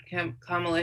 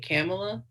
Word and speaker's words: Kamala: just recently heard that her name was kamala and i've been saying it camella and i don't know how i never heard her name spoken out loud but i said it to my sister and she's like did you just say kamala like pamela yeah yeah yeah that